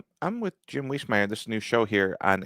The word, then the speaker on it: Wiesemeyer: Whismire. Uh, don't make it hard. And if you're pronouncing it, as I tell people, just say it fast.